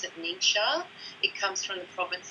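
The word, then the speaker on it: NingXia: sort of throw people a little so we pronounce it neat show it comes from the province in china where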